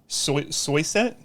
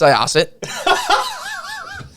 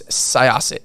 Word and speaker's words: Syosset: You grew up in Soyset? I just butchered Close that enough. Bad, didn't I? It's pronounced Syosset.